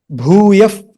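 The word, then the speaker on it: bhūyaḥ: Because of that, when you pronounce it together, you say bhūyaf, fa, fa.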